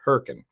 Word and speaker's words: Hurricane: of a town called Herc and West Virginia Huracan and that's how we pronounce it hurricane it's pronounced it's spelled hurricane